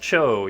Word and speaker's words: Zhao: It's pronounced Cho, even though it's spelled Zhao. Everyone says Zhao, but no, it's Cho, guys.